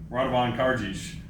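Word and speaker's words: Radovan Karadžić: All right, the next one is number 5, Radovan Karadzic. That's how you say it. It took me a while to understand how to pronounce his name too, but I finally figured it out.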